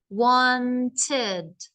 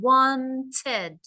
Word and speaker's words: wanted: painted wanted traveled started can you see how it has two sounds so how would I know it ends in a t usually the ones that end in a t one and then you have to put the te d as another sound wanted okay traveled um